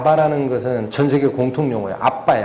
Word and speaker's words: 아바: 것은 전세계 공통 용의 아빠의 아빠 에 원래 발음이 아빠 인데 우리말의 아 바라보는 아빠